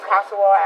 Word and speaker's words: Consuewella: My name is Kosuwal. Can you spell it, please?